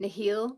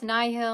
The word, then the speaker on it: Nihil: Phase 1 and 2, I pronounced it Nihil because I thought Nihil sounded cooler, but then Blind Wave is like, no, no, no, it's Nihil.